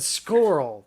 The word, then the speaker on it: Skorl: Did you say squirrel? No, I said squirrel.